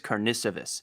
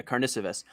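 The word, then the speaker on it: Karnišovas: do like, and the name you're trying to pronounce, the GM, is Arturas Karnisovas. I was doing that last night for 5 minutes. Yeah, Karnisovas.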